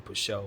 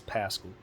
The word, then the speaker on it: Paschall: to pronounce his name i was saying poche but it's pascal and i i think